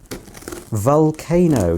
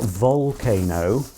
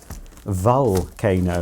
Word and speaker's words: Vulcano: This is a Vulcano, not Volcano, Vulcano, that's how it's spelt anyway, V-U-L.